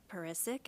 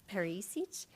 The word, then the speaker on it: Perisic: tonight are director Beth perisic and actually she told me T today her name is pronounced perich but she said if